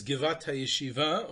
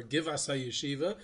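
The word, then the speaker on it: גבעת הישיבה: He points to the hill which is now known as Givat HaYeshiva, or Givas HaYeshiva, depending on how you pronounce it.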